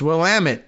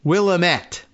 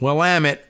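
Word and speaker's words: Willamette: you probably remember too it's will Amit damn it even though it looks like you might want to uh pronounce it as will AET which I'm sure I did first but well am it and guess what he's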